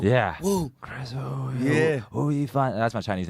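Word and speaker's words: 吴亦凡: Wu Yifan. That's my Chinese name. Wu Yifan. It's Oh, just okay. going crazy, right? How do you say it? Wu Yifan.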